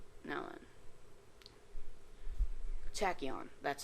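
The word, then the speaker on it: Tachyon: rare and which ones are not now then tachon that's how you pronounce that name the L axes and then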